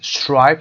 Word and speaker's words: striped: striped صدای I داره متفاوته. striped یعنی راه. صدای D هم در اینجا ت تلفظ میشه. striped به خاطر وجود پ.